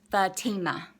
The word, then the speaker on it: Fatima: And if y'all was wondering, that's how you pronounce my name, it's Fatima.